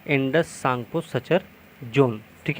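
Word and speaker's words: Tsangpo: देखिए, ये तिब्बत हिमालय और बृहद हिमालय के बीच में पाया जाता है, इंडस सांगपो सचर जोन। ठीक है, इसमें टी साइलेंट होगा, तो इसमें एक हमने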